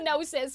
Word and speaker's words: Gnosis: Did I pronounce the G? Yeah, I did. It's a running joke. We're just kidding, guys. I know it's the Gnosis. We call it the Gnosis.